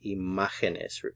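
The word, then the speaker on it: imágenes: visual of the plural the word for image in Spanish is the stresses on this syllable the ma so if you make this word plural in order to keep the stress on that same syllable as a singular word we have to add a written accent mark so we say imagenes keep the stress on that Ma lasi machines so the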